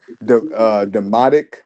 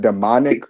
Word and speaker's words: Demotic: Demotic, not demonic, or Demotic script. You're saying it right.